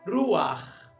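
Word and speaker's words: רוּחַ: E é pronunciado, então, juntamente com a consoante vogal, gutural, no fundo da garganta. Ruar, ruar. O patá, ele é pronunciado junto com a consoante e essa gutural no final. Ruar, ruar.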